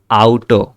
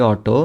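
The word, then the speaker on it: Auto: তারপরে এটা আউটো, ইংরেজিতে যেটাকে বলি অটো, এটা হচ্ছে যে আউটো।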